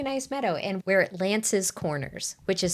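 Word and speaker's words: Lantz Corners: this other really nice Meadow and we're at Lan's Corners which is spelled l a n TZ Lan's Corners which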